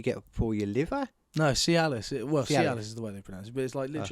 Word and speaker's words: Cialis: like what you get for your liver no see Alice it works yeah this is the way they pronounce it but it's like literally like it's